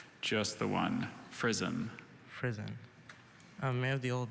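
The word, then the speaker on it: frizzen: of unknown origin okay prison there's any other pronunciations just the one frisom prison may have the old the information prison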